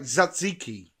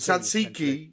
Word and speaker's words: Tzatziki: But Simas or Zimas, you say like Tzatziki. Ah, okay. So you drop the T. Tzatziki, you kind of drop the T a little bit.